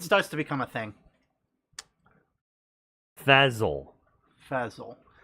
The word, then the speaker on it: Fezzle: Fazzle, Fazzle. like Spell. fizzle, but instead of an I, it's an E.